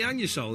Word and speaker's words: Anusol: OK, yes, the anusol, as it's actually pronounced, it isn't that satisfying.